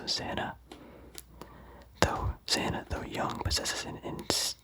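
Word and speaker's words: Zannah: Zana, I don't know how to pronounce it, but I think Hannah with a Z, so Zana.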